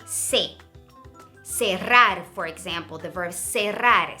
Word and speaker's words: cerrar: Cerrar, for example, the verb cerrar, C-E would be se.